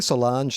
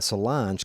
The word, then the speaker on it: Solange: beyonce's sister yeah um rhymes with orange sort of not doesn't saliva mispronounce